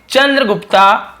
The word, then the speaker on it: चंद्रगुप्त: चंद्रगुप्ता। तो ये भी चंद्रगुप्त होगा, हम बोलते हैं ना ए, उसको जोड़ देते हैं चंद्रगुप्त।